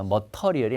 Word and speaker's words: material: 발음 조심해요. material이 아니라 발음이 여기가 ter예요. ter인데 발음은 material. 예, 여기 I, materials 이렇게 되고 supplies 동의어입니다.